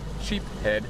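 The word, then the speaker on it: sheepshead: Sheep head is the right way to say it.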